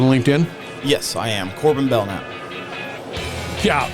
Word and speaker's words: Belknap: yes I am Corbin bellnap yeah the K is silent so don't even go there b e l k n a p bellnap there it is you